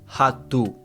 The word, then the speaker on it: rato: Now, something you probably just noticed is that I said o rato. Now, the thing to remember is that an O at the end of words is pronounced with an U sound.